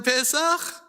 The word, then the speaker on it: Pesach: How many syllables in Pesach? 2. Very good.